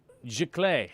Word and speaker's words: Giclée: Giclée. Yeah, that's how you say it. It must be French.